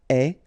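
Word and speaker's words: aie: avoir will become est, remember the final E is not pronounced, so you only have this AI sound, est, okay, est, ayons, ayez, okay, est, ayons, ayez.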